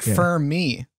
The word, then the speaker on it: Fermi: Fermi, like firm instead of limp, like instead of the limpy paradox. What? Well, it's just like, it's a mnemonic device to help me remember. Oh, like Fermi.